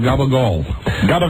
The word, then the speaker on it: gabagool: Richard, how do you pronounce it? Is it Gabagool? It's called Gabagool.